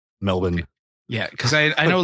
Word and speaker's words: Melbourne: summer so is it is it Melbourne like do you not pronounce the r or yeah we it's Australia we we pronounced the bare minimum of everything it's yeah just Melbourne m e lb n Melbourne yeah cuz I I